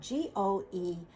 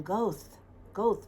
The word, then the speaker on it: Goethe: And, Goethe's name is spelled Goethe. He's a German romantic poet. And so a lot of people in America will call him Goethe, but it's actually Goethe in the German pronunciation.